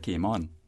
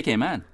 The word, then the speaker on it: Cayman: alphabet a and then the first syllable rhymes with C and we render the a short in the second syllable man write news a